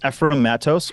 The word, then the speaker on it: Ephraim Mattos: Yeah, so it's Ephraim Mattos or Ephraim Mattos or Ephraim Mattos. There's so many different weird pronunciations of my first name. Every country I go to says it's supposed to be said a different way.